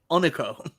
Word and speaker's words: Unico: Do you remember the WWE wrestler named Hunico? You say it like that. Unico.